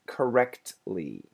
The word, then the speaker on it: correctly: He said it correctly. He said it correctly, correctly, correctly. I stop very briefly and then make the ly sound. So do you hear the T? No, not really.